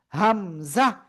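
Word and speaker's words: همزة: হামজাহ। কোন টান হবে না এটা।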